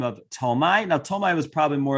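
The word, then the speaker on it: Ptolemy: ruled by a general by the name of tomai now tomai was probably more of a name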